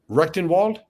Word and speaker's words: Rectenwald: asking uh Dr I'm sorry I want to pronounce his name correctly recton Wald yes okay you know coming from a Marxist